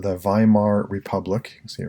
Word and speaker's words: Weimar: Right, it was called the Weimar Republic. You can see it right there. That's your one lone vocabulary word for this section. So the Weimar Republic. Remember, German words pronounce W's like V, so if you want